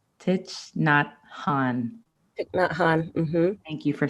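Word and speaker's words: Thich Nhat Hanh: it's from i'm going to say this wrong tit not han thank you for saying it right it's so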